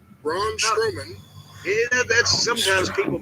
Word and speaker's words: Braun Strowman: Fatu and his opponent by the way was brown strongman Braun strowman that's sometimes people mispronounce it that way and yes he's been